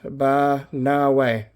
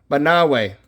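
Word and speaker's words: Banaue: Banao Rice Terraces, pronounced Banawe. Banawe. Okay, so now I know that's the Banawe Rice Terraces.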